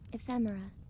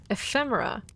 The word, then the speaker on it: ephemera: It's how do you pronounce it again? Ephemera. Ephemera.